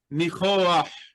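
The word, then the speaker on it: ניחוח: We have a We have kind of an auxiliary vowel that helps us pronounce the uh guttural letter at the end of the word. So, reah. Nichoah.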